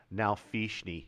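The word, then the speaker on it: nalfeshnee: Nalfishni.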